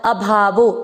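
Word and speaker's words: ऽभावो: यानी होना, उत्पत्ति, और अभावो, देखो अवग्रह है, अवग्रह को आप उच्चारण में अ नहीं पढ़ते लेकिन अर्थ में अ लेते हो तो अभावो, अभाव होना यानी विनाश,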